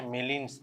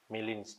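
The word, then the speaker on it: Gmelin: এটা হচ্ছে মেলিনস টেস্ট। ঠিক আছে? জি সাইলেন্ট। জিটা সাইলেন্ট থাকে। মেলিনস টেস্ট।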